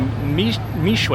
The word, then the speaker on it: Mixue: But this company, Mixue, I think it's pronounced, M-I-X-U-E, is now also coming to the United States.